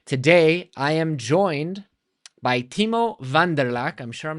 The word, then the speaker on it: Timo van der Laak: You did pronounce my name correctly. Awesome. I'm Timo van der Laak, indeed.